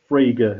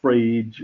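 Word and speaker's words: Frege: fraga because nobody can it's fraga it's not frage or friege or fragi it's fraga okay everyone say fraga it's the fragrance yeah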